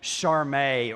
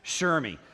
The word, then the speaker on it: Shermi: You were telling me that you know, some people call you Charmé or Sharmy, when in fact it's Shermi.